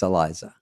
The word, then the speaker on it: Iliza: I think all you did, now I'm thinking about it, when I walked up and said your name wrong, you took the mic and you go, it's Iliza.